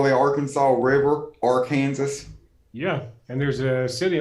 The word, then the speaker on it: Arkansas: get out of your state the river is pronounced are kansas not arkansas actually it is in in kansas that's what they call it in can in camp in kansas they call the arkansas river or kansas yeah and there's a city on it i